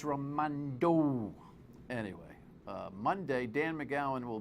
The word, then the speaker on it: Raimondo: I'll comment more on her stance on abortion if you say her name correctly. Come on, Josie. It's Raimondo.